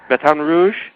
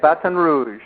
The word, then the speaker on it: Baton Rouge: all that I know you are you're in Baton Rouge did I pronounce that right yeah Baton Rouge batan Rouge that's how they say it batan Rouge batan Rouge I'm I'm pretty good at lingu